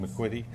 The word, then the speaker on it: McQuitty: Is McQuitty? Is that how you say it? Yes. McQuitty?